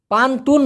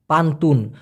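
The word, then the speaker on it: pantun: অথবা পান্তুন বলতে পারেন পান্তুন পান্তুং বলি নাই কিন্তু এন এর জায়গায় যদি অনস্বর দেওয়া হয় তাহলে কিন্তু আবার পুতুল হয়ে যায় পান্তুং আরেকটা হলো পান্তুন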